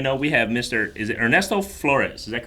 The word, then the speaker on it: Ernesto Flores: But all right, anyways, just to let everybody know, we have is it Ernesto Flores? Is that correct? Yep.